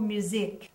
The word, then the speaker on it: musique: Astor, regardez le mot musique. Le Q-U-I, Q-U-E, est prononcé comme un K en anglais.